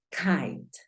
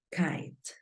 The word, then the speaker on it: kite: a mirar cómo funcionaría terminan e y solamente hay una consonante entonces la i toma un sonido cambiante Cuál es el sonido cambiante de la i míralo acá por lo tanto ya sabes que sonaría kite kite la pronunciación de esta palabra es kite verdad Entonces es muy